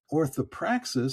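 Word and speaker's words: orthopraxis: Orthoprais sounds like the word practice because that's really what it is.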